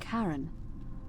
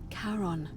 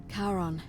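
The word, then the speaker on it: Charon: it's just as you described it only your pronunciation is a little off the name you heard wasn't Karen it was c h a r o n as in karon the Fairman of the Dead karon who in exchange for the right coin helps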